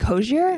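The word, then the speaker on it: Hozier: I don't want to say his name wrong. Hosier. Like Hosier?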